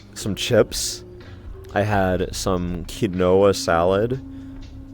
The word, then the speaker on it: quinoa: I had some quinoa salad. How do you pronounce it?